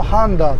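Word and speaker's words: Honda: ねよいしょヒュンダイは英語でハンダイて言いますちなみにホンダもハンダーっていますだからパッと聞いただけじゃねわかんないんですよね発音がとても似てますホダとヒュンダイ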